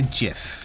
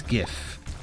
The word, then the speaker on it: GIF: with your sentiment no I don't say jiff it's gif like in English language we put the emphasis on the first syllable that's the way it is don't bring that blasphemy